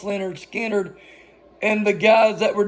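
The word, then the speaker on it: Lynyrd Skynyrd: it was the last song they recorded on pronounced Leonard Skinner and the guys that were doing the recording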